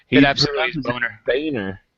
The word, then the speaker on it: Boehner: name his name is boner in absolute honor Boehner yeah but it is it is phonetically pronounced as boner yeah there's no let